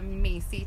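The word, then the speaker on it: Mhaycee: This is the Macy top, and it is spelled M-H-A-Y-C-E-E, size small, $26.99, by the brand Wylet, something like that.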